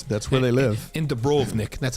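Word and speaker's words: Dubrovnik: dragons yeah that's that's where they live in dubrov Nick that's how you say it by the way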